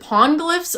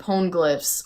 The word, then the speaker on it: Poneglyph: Yeah, Poneglyphs?